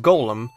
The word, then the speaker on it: Golem: Golem is pronounced Golem, not Gollum, because Gollum is that character from Lord of the Rings, so it's pronounced Golem, not Gollum, Golem.